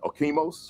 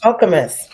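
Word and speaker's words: Okemos: Okimos Okamus Okamus I was way off public schools in Moskegan Heights.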